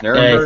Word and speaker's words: Nuremberg: Did I say it right this time? Yeah, Nuremberg. I think so. Yeah. Nuremberg! I mean, technically, that's entirely wrong if you're saying it with an English accent.